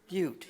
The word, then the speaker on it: Butte: can't sit now no it's b-u-t-t-e yeah that's right so according to the spanish pronunciations isn't it spanish montana yeah okay so pute butte yeah butte the root the root guns